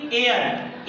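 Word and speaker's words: air: पढ़ेंगे इसी प्रकार से किसी शब्द खंड में ए आई के बाद आर आता है तब आई को उच्चारण ए या हो जाता है जैसे की एयर ए के बाद में आर आई ए रहा है तो इसे पढ़ेंगे एयर एयर का मेंस होता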